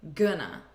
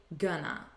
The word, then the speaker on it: gonna: we say gonna but notice again the pronunciation it's not with an O sound it's with a you good gonna repeat gonna she's gonna be repeat